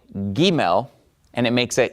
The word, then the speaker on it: Gimel: A, B, C, okay, but this is not a C sound, it's a G sound, Gimel.